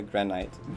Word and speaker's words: granite: Is granite the only one that's like it instead of it?